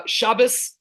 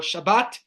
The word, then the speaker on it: Shabbat: bit about that uh shabas or Shabbat depending how you want to pronounce it is our day of